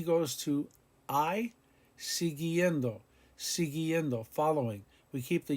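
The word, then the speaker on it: siguiendo: sigiendo con si guillendo we keep the u after the g because we want the hard g sound con c guillendo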